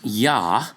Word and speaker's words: Yah: And that's Yah for short, sometimes even Yahoo, but never ye, you, yo, or any other sound, not in terms of the name of God, and when he inserts